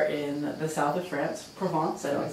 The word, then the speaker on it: Provence: I'm here with Olivier, and we are in the south of France, Provence. I don't say it correctly. Correct. How do you say it? Provence, yes.